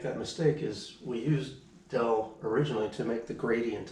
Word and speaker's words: del: introduced this thing but the dell operator it's pronounced dell sometimes i look at that and i say grad just as often as i say dell i think but uh you know technically it's supposed to be dell the reason that sometimes i make that mistake